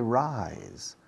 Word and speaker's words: rise: Fijaos en la pronunciación de rise. Se escribe rise, y latina simple ahí.